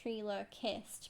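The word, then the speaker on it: Trilo Quist: to him later okay trer Quist how very funny well actually I think it's pronounced trer kissed because you're meant to say it like ventriloquist or ventriloquist yeah a ventriloquist puppet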